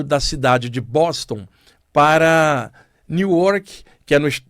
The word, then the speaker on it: Newark: Inclusive, o brasileiro fala Newark, lá tem uma comunidade de brasileiros enorme. Um abraço aí para vocês que estiverem escutando o programa. E aprendi que a pronúncia certa é Newark, né, como o pessoal chama lá.